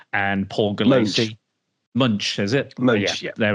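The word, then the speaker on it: Moench: And we are going to be talking about Batman Prey by, I want to say, Doug Monk and Paul Gulacy. Munch, is it?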